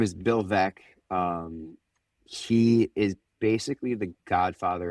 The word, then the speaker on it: Veeck: Bill Veck. Bill Veck. Yeah. So his last name is spelled Veeck.